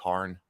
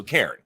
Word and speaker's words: Cairn: Oh, so I'm saying it wrong. Cairn? It is, what was I saying? I was saying Cairn. Yeah, so Cairn. It should be Cairn, right?